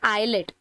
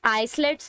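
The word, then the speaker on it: islets: इनको क्या बोलते हैं आइलेट आईलेट्स नहीं बोल सकते हैं आप इसको यहां पर ऐड साइलेंट है तो आप इसको आफ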